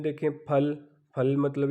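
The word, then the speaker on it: 팔: फिर आप 80 पे आ जाएं तो 80 में देखें फल, फल मतलब 8 को हम कहते हैं, यहाँ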